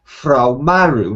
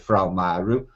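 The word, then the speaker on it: Fra Mauro: Mapper Monday produced in 1450 by a Frau Maru. Now, I'm aware of Frau Maru, spelled F-R-A-M-A-U-R-O, Frau Maru.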